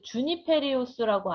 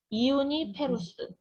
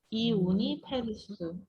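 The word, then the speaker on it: Juniperus: 그래서 이제 주니페리우스라고 아니고요, 이우니페리쿠스라고 읽었어요. 이우니페루스, 이우니페루스.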